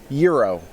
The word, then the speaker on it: Uro: Euro, I believe it's pronounced, like the sandwich. Yeah, like gyro for those of us who Euro.